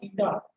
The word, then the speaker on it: eta: इसको बोलते हैं बेटा ईटा, ETA इसको बोलते हैं, प्रोनाउंसिएशन है इसका ईटा।